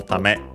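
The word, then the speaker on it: ため: And it's used simply, it's technically a noun, accented on the last syllable, tame, but it's used to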